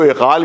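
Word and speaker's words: عقال: کو اقال باندھتے ہیں، اس کو اقال کہتے ہیں، جو اب اس کو تلفظ بگڑ کے وہ اغال ہو گیا ہے وہ لیکن اصل لفظ ہے اس کا اقال۔ اقال یعنی باندھنا، اس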